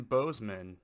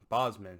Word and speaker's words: Bosman: we have an update adrian bozeman bosman however you pronounce it i mean i've heard it pronounced both ways i pronounce it boss adrian bosman is going